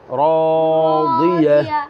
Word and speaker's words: راضية: يومئذ ناعمة মাশাআল্লাহ لسعيها راضية راضية راضية راضية রটা আছে জবর বাম পাশে আলিফ راضية راضية راضية راضية গোলথা যখন থামবে তখন হায়ের মতো উচ্চারণ হবে গোলথা যখন থামবে তখন